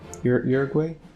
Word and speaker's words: Uruguay: with the what ok uruguay uruguay that's how you pronounce it and try to